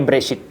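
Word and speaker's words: בראשית: Ini bacanya Bereshit.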